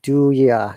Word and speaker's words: do you: Remember, natives will pronounce it do ya, not do you.